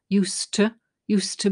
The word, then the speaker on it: used to: First of all, used to, drop the D because the D and T come together. Weak sound for the T, used to be.